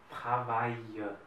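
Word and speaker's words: travaillent: Et pour les verbes du premier groupe, c'est ENT qui ne se prononce pas. C'est Travaillons. Travailler. Travaille.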